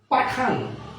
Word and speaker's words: পাঠান: এখানে হচ্ছে উদাহরণগুলো দেখিয়েছি আমি এখানে লিখছি পাঠান পাঠান এ উচ্চারণ পাঠান হবে কখন যদি আমি সাবজেক্ট হিসেবে তুচ্চার্থক বা ঘনিষ্ঠার্থক সর্বনামকে ব্যবহার করি কিন্তু যদি আমি তুচ্চার্থক বা ঘনিষ্ঠার্থক সর্বনাম বাদে আমি যদি সাধারণ সর্বনামকে ব্যবহার করি তখন এই শব্দটিকে আমাকে উচ্চারণ করতে হবে পাঠানো আমাকে উচ্চারণ করতে হবে পাঠানো